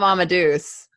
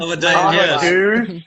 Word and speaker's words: Amadeus: I love Amadeus. It's one of my alarm. Amadeus.